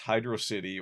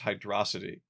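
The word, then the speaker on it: Hydrocity: 3, I believe, called Hydro City was actually pronounced Hydro City or if it was Hydroity.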